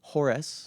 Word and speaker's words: Horace: And some You're saying not horse? well known. Horace. Horace no, Mann. I was hearing Horace.